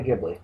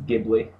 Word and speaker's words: Ghibli: doing Studio jibli week gibli or jibli I'm never quite sure how to pronounce that properly um I think it's gibli okay but anyway it's GH I so it wouldn't make sense for it to be a soft G yeah I think I